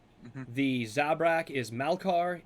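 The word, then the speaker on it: Malkar: The Zabra is Malcar.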